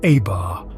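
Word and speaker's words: עבר: Hebrew we find a tretter consonant pronounced abar which means crossing over this verb appears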